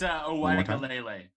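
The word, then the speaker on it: Uiagalelei: I think I pronounced that right. It's Uwaigalele. Uwaigalele, DJ Uwaigalele from Clemson, who is also at a plus 1100.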